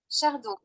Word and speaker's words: chardon: Chardon. Right. So in French, it's pronounced chardon, meaning to say they don't pronounce the S, and they don't pronounce the The N.